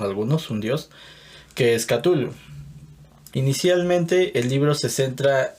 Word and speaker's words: Cthulhu: La llamada de Cthulhu, yo lo pronuncio así, Cthulhu, eso es algo que me han enseñado. Pero bueno, como ya lo mencionó Marilu, no hay corrección, porque el mismo Lovecraft decía que la fonética humana no es capaz de pronunciar estos nombres, ni siquiera el de la ciudad de Rhyl o Rhyl, muchos lo conocen como Rhyl, entonces no, realmente no hay una corrección.